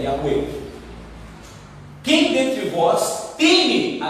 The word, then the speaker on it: Yahweh: Yahweh é a pronúncia correta do tetragrama, que é traduzido para nós como Jeová, como Javé, como Yahvé, como, né, tantas, mas a pronúncia correta é Yahweh.